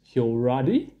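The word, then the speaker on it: Heoriady: which is dream but the english name is hiyoradi h-e-o-r-i-a-d-y that is something that's how it's pronounced yeah it's a 480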